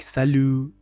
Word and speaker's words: salut: Like salut. T is not pronounced at the end of the word, as you already know.